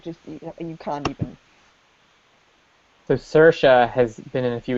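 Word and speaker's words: Saoirse: a o i r s e and it's pronounced suha so yeah yeah I think there's an actress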